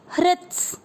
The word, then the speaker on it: हृत्स: दूसरा चरण देखेंगे ह के अंदर री से ऋषि की मात्रा, इसका मतलब हुआ ह आधा है और री की मात्रा री, HRI री के साथ आधा त हृत, फिर आधा स भी इसके साथ पड़ जाएगा हृत्स। जैसे आप किसी भी चीज को अंग्रेजी में, जैसे आप प्लूरल बोलते हैं इंग्लिश में, तो एप्पल को बोलते हैं एप्पल्स, राइट। तो वैसे ही आपको यहाँ पे बोलना है हृत को हृत्स, तो उच्चारण बहुत आसानी से निकलेगा हृत्स।